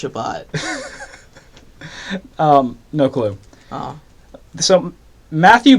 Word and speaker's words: Shabbat: Is it spelled C-H? No, but it's pronounced Shabbat.